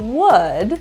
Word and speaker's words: would: the first is that the L is silent just act like it's not there ignore that L doesn't exist the second is the